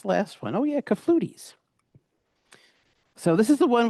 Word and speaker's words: clafoutis: It doesn't even sound like French.